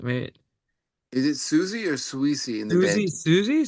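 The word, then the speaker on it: Siouxsie: I think, wait, Is it Susie or Sweezy in the Susie, band? Susie, Sweet, Yeah, Susie and the Banshees. Yeah. Susie. Oh, that's how you pronounce her name, Susie, because it's spelled Yeah.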